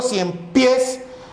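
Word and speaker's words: ciempiés: Entonces, cuando digo cien pies, la pronunciación está aquí, pies. Y en este caso, al fusionarse, ya forma una palabra polisílaba. Es más, es aguda, acaba en S. Entonces la palabra cien pies se tilda en ese caso.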